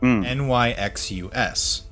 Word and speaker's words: Nyxus: The god is not named Nyx, it's named Nyxus. Nyxus. Spelled phonetically.